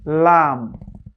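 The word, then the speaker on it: لام: যেমন লাম লাম জিহবার আগার কিনারা জিহবার আগার যে এই যে ইয়াটা আছে জায়গাটা আছে এটাকে সামনে উপরের দাঁতের মাড়ির সঙ্গে লাগাবেন কেমন লাম লাম লাম এভাবে করে লামের পারফেক্ট উচ্চারণ করতে হবে নয় নাম্বার মাখরাজি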